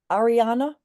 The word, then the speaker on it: Ariana: Um Ariana, am I pronouncing your name right? You are.